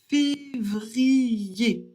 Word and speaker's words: février: E accent aigu, ça fait et pareil que er r à la fin d'un mot. Donc on prononce février.